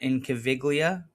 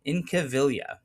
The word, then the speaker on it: Incaviglia: Pete Incaviglia, no G. Don't pronounce it. Um it's not Incaviglia like I might have said in the video in the video. Um Incaviglia.